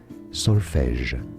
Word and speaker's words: solfège: Solfège is how it's said in French. Solfège. So how I would say it.